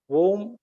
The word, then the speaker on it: womb: something worth noting yes the letter B is silent we should say to look at some other words of this type com wom bomb lamb comb is comb is